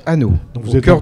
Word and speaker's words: Anost: Hanau, ça se prononce, ça s'écrit Anos et ça se prononce Hanau.